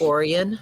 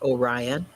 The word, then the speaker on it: Orion: named Milan, not Milan, a town named Orion, not Orion, a town named Rio, not Rio, a town named Viola, not Viola, and I'm missing one. Viola, Rio, Orion, Milan.